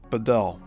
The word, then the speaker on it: Beadell: similar types of operations, by the name of Len Bedell. And his last name is spelled Beadell.